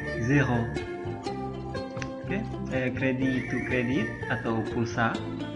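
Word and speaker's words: zéro: disebut eh exf kredi kredi cre create m verite verite zero zero okey itu kredit atau pulsa k itu teriakan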